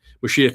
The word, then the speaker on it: Mashiach: Mashiach is is our pronunciation for it.